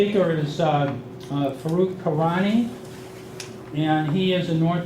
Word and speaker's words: Farokh Karani: is Farokh Karani, and he is a North American Sales Director for Heimdal Security.